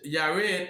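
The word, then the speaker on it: Jared: Oh y cuz the J is silent. Mhm. And I is the what? Six. He's the six. And Muham Mahal lived after he begott Yared 830 years.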